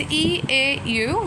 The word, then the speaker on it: eau: Next ending, it is eau, which is pronounced o in French.